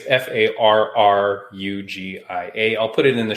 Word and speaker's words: Farrugia: And for those listening, it's Farrugia.